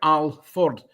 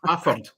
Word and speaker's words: Alford: Now it's spelled Alford, but if you call it Alford, you get hung, drawn, and quartered. It's Afford. You don't pronounce the L.